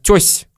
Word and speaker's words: то есть: Наверное, То есть мы произносим как «то есть» или вообще как «тёсь».